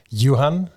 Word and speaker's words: Johan: It's Johan.